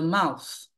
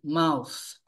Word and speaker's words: mouth: then we have the mouse All right Mouse TH at the end mouth then we have ear